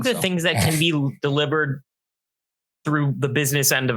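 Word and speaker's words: Delibird: Yeah, everybody said his name wrong for like 20 years. It's not deli bird. It's delivered.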